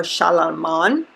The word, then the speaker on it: Charlemagne: And we still have blacks named Charlemagne or Shalaman. So that's another pronunciation for it.